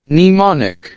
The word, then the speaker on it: mnemonic: এখন আসেন silent letter M এর বেলা, যেখানে আপনার এম এর প্রনাউন্স হবে না, লাইক এইটাই যে দেখেন আপনার নিউমোনিক বা এই যে নিম। তাহলে শুনেন এগুলা কেমনে প্রনাউন্স করে। mnemonic, Nemi, Nimi, alright.